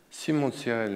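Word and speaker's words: Simon de Cyrène: Je voulais juste dire quand même que Simon de Sirel, le foyer Simon de Sirel, je suis président d'honneur de ce foyer dans toute la France.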